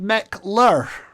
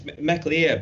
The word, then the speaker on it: McLear: And so you have a band, an Isle of Man band called McLur. Is everyone from the Isle of Man in the band? Am I saying it right? Well, it's a mix. It's McLear, but it's three of